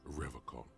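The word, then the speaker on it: Revachol: He pronounces Revacon with a hard K.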